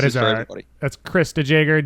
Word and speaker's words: DeJager: That's Chris DeJager, DeJager. Is that how you say it, DeJager? J-E-R at the end.